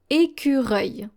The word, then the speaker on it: écureuil: Here, the final L is going to be silent as well. So this is how you pronounce it. Écureuil.